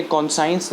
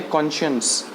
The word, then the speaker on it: conscience: इसकी प्रोनाउंसिएशन याद रखिए. ये कॉन्साइंस नहीं है, ये है कॉन्शियंस. सो आप इसे याद रखें.